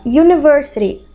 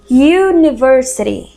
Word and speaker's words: University: agora aqui ó observa University Universidade University começa com u certo só que olha a pronuncia University University É como se eu tivesse dizendo you de você University como se fosse um Y ali University Então a gente